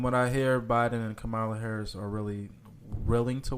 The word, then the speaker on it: Kamala: y'all mispronounce him well I hate when people say her name is kamela I hate that she is not a camel her name is Kamala okay my car my